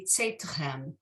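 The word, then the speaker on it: צאתכם: So yes, I think with the shva, it should be tzeitichem. There should be a very short second syllable in there.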